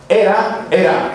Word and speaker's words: Hera: Por eso la esposa de Zeus, que los griegos llamaban Hera, era la esposa. Esa Hera se escribe con H. Era, que era, la esposa, era también profundamente infeliz porque el esposo era muy mujeriego.